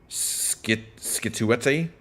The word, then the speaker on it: Scituate: Scituate? Yeah, that seems like a winner. Situate.